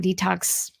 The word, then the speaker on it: DTOCS: So that is why the brand name Detox has come into play. And if you're wondering what it's spelled as, it is DTOCS.